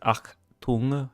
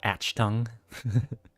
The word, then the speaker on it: Achtung: It's pronounced Achtung, you know. Achtung. Not Achtung.